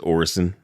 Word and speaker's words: Orison: Danielson McGill so yeah I keep hearing cig Dave saying or icing yeah Jack Stephen says orerson because that's how they pronounce it in their little tourism video it's Canon y'all that's right nice to